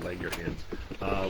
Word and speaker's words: Langerhans: You have to say it like a Scotsman when you say the Langerhans, which is our blood